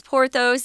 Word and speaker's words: Porthos: This Athos, Porthos, and Aramis is actually how you say it in French, but we're just going to go with more of an English pronunciation for these guys' names.